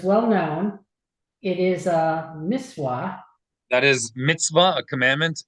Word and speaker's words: mitzvah: Answer, as is well known, it is a mitzvah. That is mitzvah, a commandment, and closer to Oh, mitzvah. ancient Okay. classical Hebrew pronunciation. Miswa, miswa.